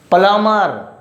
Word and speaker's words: plumber: Here is plumber, don't say plumber. Most of the people, they pronounce plumber. Call plumber to repair my chair, call plumber to repair my bench desk. Okay, so don't say plumber, its exact pronunciation is plumber.